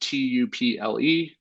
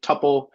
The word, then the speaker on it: tuple: So if you see that word tuple, that is some people pronounce it tuple. I like to call it tuple, but that is going to be very similar to an array.